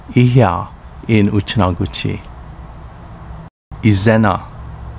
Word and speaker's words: Izena: Izena, pronounced Ijina in Uchinaguchi.